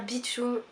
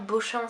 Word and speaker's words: Beauchamp: donc le personnage de Claire Beachum ou claire Beauchamp si vous le prononcez à la française qui était en fait